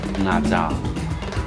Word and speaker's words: Nezha: kilometers away from this Nezha San Taizi Palace. The pronunciation of Nezha in Thai is closer to the Cantonese pronunciation "Naza".